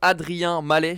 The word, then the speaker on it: Adrien Mallet: C'est Adrien Mallet, je prononce bien ton nom. C'est ça.